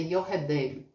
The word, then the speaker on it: Jochebed: No livro está escrito Jochebed, mas a pronúncia é Yoredeb.